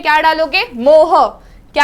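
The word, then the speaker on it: mho: Numerical में क्या डालोगे, मोह। क्या है वो, मोह। सो ये इट गोस लाइक मोह, कोई मोह बोलता है, मोह, जो भी बोलना है बोलो, मैं मोह प्रोनाउंस करूंगी। सो इट इज मोह एंड हियर वी गो।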